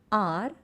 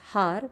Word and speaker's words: hour: Example, an R where H is silent. We don't read it as har, we say R.